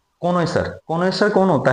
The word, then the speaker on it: CONNOISSEUR: कॉनोइसर, कॉनोइसर कौन होता है, पारखी, किसी भी कला